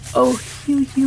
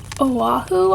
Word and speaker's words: Ohuhu: These are the Ohuhu, I believe is how you'd pronounce it, series, which come with a chisel tip and a fine tip.